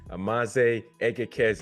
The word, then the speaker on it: Amanze Egekeze: Niger boy, my man, Amanze Egekeze. Is that how you say it? Yes, sir. Did I get it Perfect. right? You got it.